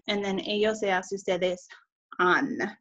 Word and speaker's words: han: And then ellos, ellas, ustedes, han. Notice that H is silent.